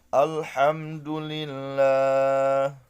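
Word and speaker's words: الحمد لله: Dibaca jelas nih alif lamnya. Alhamdulillah.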